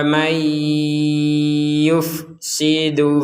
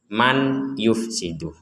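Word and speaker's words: مَنْ يُفْسِدُ: Di sini ada nun sukun bertemu ya, kita membacanya mendengung. Jangan dibaca jelas. Kalau dibaca jelas menjadi man yufsidu. Nah, karena nun ini kita gabung dengan ya, maka nunnya ini dimasukkan huruf ya. Seakan-akan nunnya sudah tidak ada dan langsung masuk ke ya.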